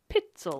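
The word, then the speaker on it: Pitezel: So, it's P I T E Z E L. Pitel. It's like Pel. Pitel.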